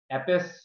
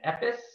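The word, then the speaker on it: עפּעס: This word is epis, and you can see there's two options for pronunciation, also, you know, both very close, epis and epis. You know, I shake your hand from afar if you can hear the difference.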